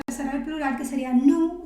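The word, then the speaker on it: nous: del plural que sería nu y Vu tenemos que acordarnos de que Esas últimas eses no se van a pronunciar O sea no vamos a decir ni nus ni bus con la excepción de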